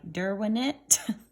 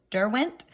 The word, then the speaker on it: Derwent: this is a and i never pronounced this right derwinette derwent um it's a brand from england and they're